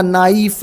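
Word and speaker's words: knife: क बरोबर ओके पण या प्रन्सिएशन मध्ये क हा शब्द कुठे के एन आय एफ त नाईफ म्हणायचं का तर नाही याला नाईफ म्हणायचं के एन डबल के सायलेंट आहे एन डबल नी झालं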